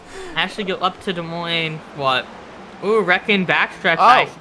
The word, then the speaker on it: Des Moines: gotta use the S yeah it is a silent s that way but there's no sourness I should go up to Des Moines what oh wrecking back